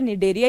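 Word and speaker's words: Cnidaria: निडेरिया बोलोगे आप इसको, क्योंकि वैसे प्रोनाउंस तो इसे निडेरिया ही बोलते हैं।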